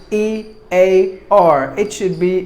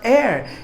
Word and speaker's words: ear: For example, when you talk about the word E-A-R, it's not air, it's ear, which they get it, but there are some difficult sounds like elite.